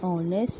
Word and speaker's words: honest: not pronounced there okay the letter h is silent in those two words and we start from